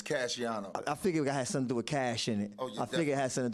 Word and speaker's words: Cashiano: It's Cashiano.